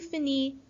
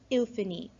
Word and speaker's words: finis: tea at the end now all of these the final that are the final consonant is silent so it's just an e tu fini fini however we have two